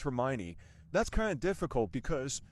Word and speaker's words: Hermione: Well, it's actually pronounced Hermione.